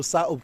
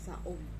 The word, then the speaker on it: Saob: Tapos yung mga Kastila, pagka nagtatawag, may bibisita, sinasabi nila saob, saob. Saob. Hindi kasi ma-pronounce ang K. Dapat sakob. Sakob. So wari-wari is sakob. Sakob. Kaya saob na lang.